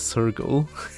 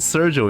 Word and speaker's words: Sergal: I didn't know it's pronounced as Sergal. I called it Sergio.